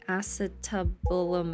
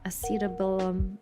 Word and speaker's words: acetabulum: Okay, that's how you say it. Acetabulum.